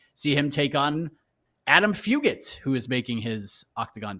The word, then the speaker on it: Fugitt: yeah credit to adam fugitt for jumping on this opportunity with uh short notice adam hard g fugit is his nickname his name should be hard g like this is like